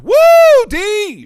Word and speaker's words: Wu Di: It's actually pronounced Woo D.